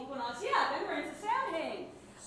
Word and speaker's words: Samhain: And then when we get past fall equinox, yeah, then we're into Samhain. What's that? Soet is the correct pronunciation.